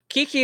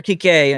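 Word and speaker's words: Kiké: Kiki wouldn't be, or Kike, I think is how it's pronounced.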